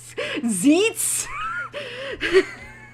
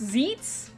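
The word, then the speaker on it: Xeets: zites and I'm like excuse me zeets x-e-e-t-s zeets it's it's like you didn't realize that's good one mispronunciation away from Skeets right oh my God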